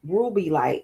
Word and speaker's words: rubellite: So Google ruby light, and it's spelled RUBELLITE.